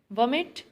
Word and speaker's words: vomit: Vomit, stress is on first syllable, wo.